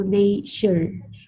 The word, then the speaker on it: nature: So this will be native, native, and this T in English sounds like sh. So nature, nature.